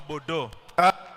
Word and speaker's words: Bordeaux: Hiyo ya juu inapronounsiwa kama Bordeaux.